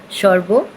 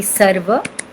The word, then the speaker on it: sarva: I'm sure you have written it in the Bengali style, so it became Shorbo. Siddhi Prada Chakra. If you write it in the Sanskrit pronunciation, it will be Sarva Siddhi Prada Chakra.